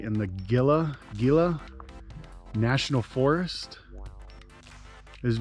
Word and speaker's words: Gila: dwellings we have learned it's pronounced with an h not a g at all i don't know i guess that makes sense uh gila it's the gila cliff